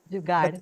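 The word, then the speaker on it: jugaad: that is jugat I don't know the right pronunciation jugard yes you said it perfect that is if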